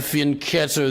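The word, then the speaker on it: fianchetto: chess I know that my opponent wants to fin ketto the bishop which is how it's pronounced by the way in today's video we're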